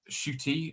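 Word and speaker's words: Ncuti: down to because uh shooty uh which is uh how uh which is how lisa uh mazimba prin pronounced it thank you very much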